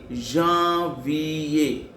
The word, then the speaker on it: janvier: J-A-N, Jean, nasal sound A-N-R, so J-A-N, Jean. V-I-V-E-R-A, Janvier.